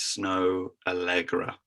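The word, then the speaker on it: Snoh Aalegra: It's called Find Someone Like You, and the artist is Snow Allegra. It's spelled SNOHAALEGRA.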